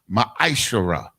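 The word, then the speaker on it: ma'aser: verses 8 through 10 means 10th in the hebrew and is pronounced maisha ten percent of every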